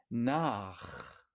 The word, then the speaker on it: nach: Nach, nach. A es una vocal posterior, entonces la CH, la combinación CH se pronuncia muy fuerte.